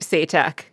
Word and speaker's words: Se'tak: By calling him Satak, because I forgot that they had pronounced it as Satak.